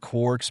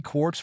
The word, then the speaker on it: quark: The word quark is supposed to be pronounced like quart, but with a K at the end instead of a T, but is usually pronounced to rhyme with lark.